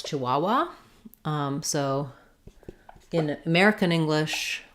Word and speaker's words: Chihuahua: um how to pronounce Chihuahua um so in American English we say Chihuahua um and we stress on the middle syllable Chihuahua um she had a